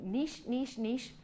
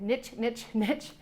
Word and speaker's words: niche: You want to make sure that you niche, or as Americans say it, niche down to a practice area.